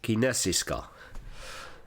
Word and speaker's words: kinesiska: spelled as Kino and kinesiska in certain uh Swedish words the K and the I are pronounced as she and Swedish actually has